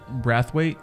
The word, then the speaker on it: Braithwaite: to botch your last name how do you pronounce it brathwaite yeah we got shane brathwaite with us um